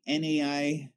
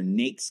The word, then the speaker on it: NAICS: the NAICS code or NAICS code, kind of like pronounced like snakes, is how I believe it's pronounced, or occupation.